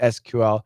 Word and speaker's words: SQL: just what everybody does the standard is sql it's appropriate in a